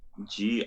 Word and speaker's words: Grgich: It's spelled Gurgit. strangely. It's Grgich. It's kind of like missing a vowel somehow.